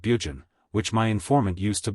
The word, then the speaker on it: Burgoyne: Nutting had a famous foxhound named Burgoyne, he pronounced it Bugen, which my informant used to borrow.